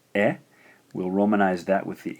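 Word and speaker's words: え: The fourth syllable in the vowel line here is pronounced E.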